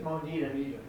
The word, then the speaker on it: Monetta: So, I think it's Monita Monita.